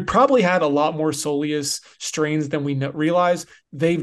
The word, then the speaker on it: soleus: Jeff St what in the world is a Solus and why have I not heard this word